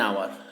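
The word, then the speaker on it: hour: Wait an আওয়ার। এইচের উচ্চারণটা এখানে কিন্তু আয়ের মতো হচ্ছে, ওয়েট অ্যান আওয়ার।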